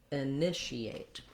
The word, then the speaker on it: initiate: And then we do have the EA here rather than the should've, so initiate.